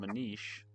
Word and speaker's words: Manish: My name is My name is called Manish but spelled as Manish. Okay, so I'm saying it right then. Manish.